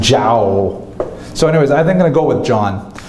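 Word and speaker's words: João: figure out with her, how do you say that? J-O. She thought it was like Joao. Could you imagine naming your son Joao? I mean, say J, Spanish say. So she actually said Jao.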